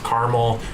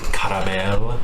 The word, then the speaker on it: caramel: With 2 syllables, caramel. With 3 syllables, caramel.